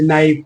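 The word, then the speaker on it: knife: के बाद इन आता है ना, तो के जनरली साइलेंट होता है। जैसे नाइफ, नाइफ, non, grow, growing, growth, ग्रू।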